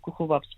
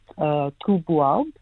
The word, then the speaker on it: !Khūboab: And it's generally Khūboab, but I say Khūboab, and most people call him Khūboab because people struggle with the clicks itself.